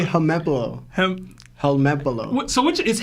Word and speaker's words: Helmepo: Also, my favorite Law and Lionel mispronunciations are Annie's Lobby, Momonosuke, Katakuri, Helalepo.